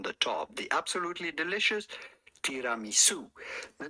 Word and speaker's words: tiramisu: Tiramisu.